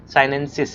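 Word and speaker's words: sinensis: थिया साइनेंसिस, है ना, थोड़ा सा प्रोनाउंसिएशन देख लीजिएगा, साइनेंसिस है वो।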